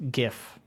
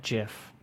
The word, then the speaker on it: GIF: pronounce it that's why when everyone comes across the word for the first time they use a hard G yes some people even